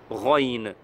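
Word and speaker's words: غ: Ici, ça c'est la lettre, vous le connaissez, c'est Rain. Et ce n'est pas Kha. Beaucoup savent bien que c'est Rain, mais quand ils prononcent, ça se mélange avec Kha. Donc il faut savoir que le point de sortie de Rain et Kha, ils sont très, très proches. C'est quasi le même en fait.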